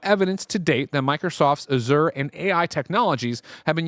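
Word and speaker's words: Azure: Microsoft has finally broken their silence over reports about the use of Azour, and that's how you say it. Azur Azur Azur and Microsoft Genitative AI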